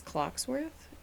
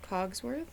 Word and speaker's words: Cogsworth: Did anyone else growing up really believe it was Clockworth instead of Cogsworth?